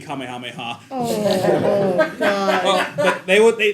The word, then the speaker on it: Kamehameha: the the four let's player mispronouncing Kam and Mama I mean Kamehameha God but they would